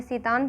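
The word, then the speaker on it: Tseten: इन्हें जो यहाँ पे जो स्पेलिंग लिखी गई है TSETN, इन्हें सीतान पढ़ा जाएगा।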